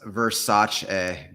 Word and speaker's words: Versace: It's pronounced Versace. Got it. Thanks for the correction. That's good to know. I' been pronouncing it wrong this whole time. Versace a If you got any questions, drop them